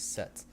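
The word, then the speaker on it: sept: So the first word would be 7 in English, the French word is set, and the pronunciation is set.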